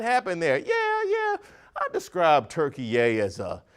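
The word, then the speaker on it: Türkiye: Turkey, the country, is attempting to rebrand and now wants to be known as Turkey-yay. Yes, it's pronounced Turkey-yay in an effort to distance itself from the bird of the same name.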